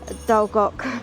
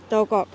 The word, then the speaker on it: Dol-goch: Dol-goch. What's this about? Gorge Mysteries. Dol-goch.